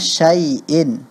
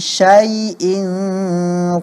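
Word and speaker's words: شَيْء: Contohnya Syai'in, Syaiton. Itu Fathahnya benar-benar diucapkan Fathah. Iya. Wa huwa ala kulli syai'in qadir. Bukan syai'in qadir. Jangan kedengaran seperti suara E jadinya, Fathahnya itu ya.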